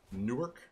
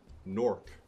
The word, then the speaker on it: Newark: W a RK yeah there's three different pronunciations depending on where you live because there's a Newark